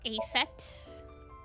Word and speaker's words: Aset: About Aset. Horus's mom is named Isis. But in ancient Egyptian, it's pronounced closer to Ise or Aset.